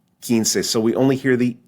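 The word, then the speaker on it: quince: be Ken Ken or the word for 15 kin kin so we only hear the E we don't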